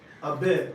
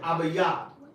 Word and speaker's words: Abib: Abib, Abiyab. All right? A-B, I can spell it.